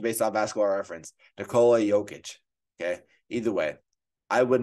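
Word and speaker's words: Nikola Jokić: know I'll pass his last name uh here pronunciation based on basketball reference Nicola jokic okay either way I would not have been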